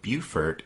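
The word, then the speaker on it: Beaufort: at the town of bufor in December 1861 and thanks to listener Bill C for letting us know that in South Carolina b e a u f o r t is pronounced Buford right so after Reynolds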